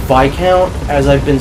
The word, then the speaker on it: Viscount: the word by count is supposed to be pronounced by count as I've been saying it but sometimes they'll slip up in pronounce it Viscount which is weird cuz I feel like we